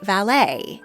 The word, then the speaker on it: valet: This use of the word is pronounced valet in the French way with a silent T.